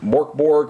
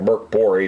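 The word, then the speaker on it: Mörk Borg: the world of um Morborg or Merk Bori if you want to pronounce it right.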